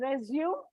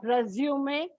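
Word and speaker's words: résumé: And remember, it is not pronounced as resume, but resume, and E has a small slanting bar over it.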